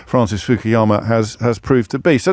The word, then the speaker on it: Fukuyama: So extraordinary, really, to reflect upon how wrong Francis Fukuyama, if indeed that is how you pronounce his name, Francis Fukuyama has proved to be.